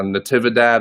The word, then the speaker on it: Natividad: just butchered that uh natividad i believe is how it's actually pronounced but um nonetheless keller